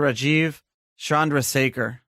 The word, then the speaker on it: Rajeev Chandrasekhar: Rajeev Chandrasekhar. Did I pronounce that right?